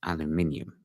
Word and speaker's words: aluminium: So then 10th of February, Trump announces 25% tariffs on steel and aluminium. Yes, it's aluminum, guys. That's how you say it.